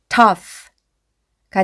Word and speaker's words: tough: 그래서 여기에 GH는 F라고 소리가 나니까 앞에서부터 읽어보면 tough가 되고요.